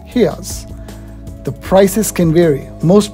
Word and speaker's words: reais: The currency in Brazil is reals, but local people pronounce it as reais.